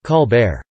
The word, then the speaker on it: Colbert: me French roles … That's why I used to say my name 'Col-bert' just as it is spelled, instead of 'Col-baire'.